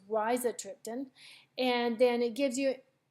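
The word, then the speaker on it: rizatriptan: Max Holt it's with Riza triptan so as you can see it gives you a pronunciation and I've been pronouncing it wrong it's Raisa triptan and then it gives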